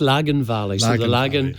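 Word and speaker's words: Lagan Valley: always have difficulty pronouncing so he's going to pronounce it uh good evening ian uh it's lagoon valley the lagoon is the river that flows through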